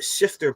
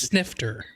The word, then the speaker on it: snifter: It has to be at least snifter. Sniffer? Snifter. What is it? How do you say it again? Snifter. Snifter.